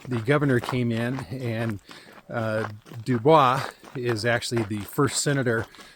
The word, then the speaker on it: Dubois: So that's how it got It is a French name, but it is pronounced Dubois and that was out of retaliation for the governor selecting the name over Tibow.